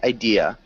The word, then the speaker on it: idea: Idea Idea good and make sure you don't have an R sound at the end it's just Idea Idea good nice does